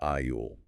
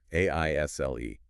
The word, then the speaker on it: isle: Remember the s in isle is silent. It sounds like Ile.